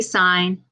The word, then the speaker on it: sin: the first three letters so it looks like sin costs tan but that's not how you ever pronounce them so when we read this we will say sine cosine tangent now the sine there's